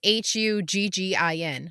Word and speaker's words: Huggin: But the the great thing about it is it's spelled h u g g i n, like Huggin. Like it has that little drawl on it.